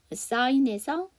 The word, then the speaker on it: sign: sign에서 G가 묵음이죠. IGN으로 끝나는 단어들은 G 사운드가 묵음입니다.